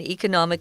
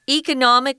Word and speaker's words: economic: Economic or economic, it can be pronounced either way, guys, just refers to the economy in a country or the world.